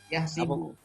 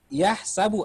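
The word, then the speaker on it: يَحْسَبُ: Tapi yang berbeda di sini, apa bacanya ini? Lihat nggak? Yahsibu. Yahsibu. Yahsibu annama lahu akhlada. Padahal yang kita baca selama ini adalah yahsabu annama lahu akhlada. Wah, bahaya ini, Al-Quran palsu ini.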